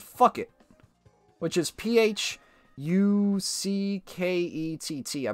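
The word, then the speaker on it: Phuket: And then there's also a city in Thailand called Fuck It, which is P-H... U-C-K-E-T-T, I believe. And it's pronounced fuck it.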